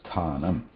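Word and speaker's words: स्थानम्: Together, it is going to be pronounced sthanam. Now, sa, tha, a.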